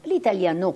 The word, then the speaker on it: l'italiano: cominciarono a chiamarlo l'italiano l'italiano con l'accento sulla o gli anni sessanta sono